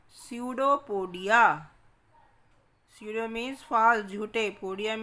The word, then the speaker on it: pseudopodia: They are called pseudopodia. Pseudo means false, झूठे. Podia means feet, पैर. P is silent in it. Pseudopodia.